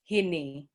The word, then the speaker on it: hini: stems from our ancestor the s sound c can also be replaced with he-hu-ha so for my parents dialect when they're saying sleep they would say hini h-i-n-i um but what i